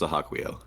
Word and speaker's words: Sahaquiel: Oh, so good, so Sahaquiel. good. Dude, and like that they have to I think like it's pronounced Sahaquiel.